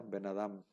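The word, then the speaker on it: ben adam: de pronunciar de corridito no se pronuncia Ben y luego Adam se pronuncia benadam como si fuera una sola palabra y el acento se se elimina el acento de la primera y ya nada más se queda el acento en la segunda palabra y bueno se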